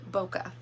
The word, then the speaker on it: bokeh: I went with um it has a eh at the end not an ah but it is pronounced bokeh so it is actually